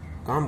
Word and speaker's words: calm: अब चलिए एल, CALM, काम, काम माने शांति, तो इसमें भी एल साइलेंस वर्ड है।